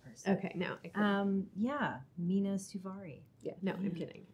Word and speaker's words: Mena Suvari: okay no um yeah mina suvari yeah no i'm kidding it's a very it's a weird one i technically have an umlaut over the u so wow i've been